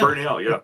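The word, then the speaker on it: Bernabel: Yeah, Bernell.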